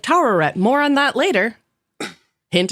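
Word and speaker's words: Taweret: tet the Egyption goddess of fertility yeah you pronounced it right towett more on that later hint when I wonder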